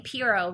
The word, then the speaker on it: Pero: am Pirro now my last name Piro rhymes with hero and I use this